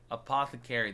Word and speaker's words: apothecary: think apothecary Apothecary Apothecary that's what it is Apothecary that's how you pronounce it apothecary I said a pocket feet